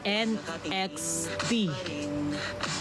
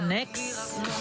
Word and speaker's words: NXT: pag-pronounce sa group niyo pino-pronounce po siya as NXT. As in literal na NXT. Hindi po siya next lapitan natutunaw na ako.